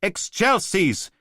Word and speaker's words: excelsis: Benedictus qui venit in nomine Domine, Hosanna in excelsis. No, no, damn it, Oliver! The exasperated voice of some poor sod trying to make a kid do what it's told. How many times? It's pronounced excelsis.